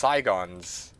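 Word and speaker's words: Sigon's: It's pronounced Saigons.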